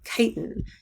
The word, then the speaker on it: chitin: function like cellulose and chitin yes oops sorry about that this word is chitin um whenever you see a ch at the beginning of a word in biology it sounds like a k so we're going to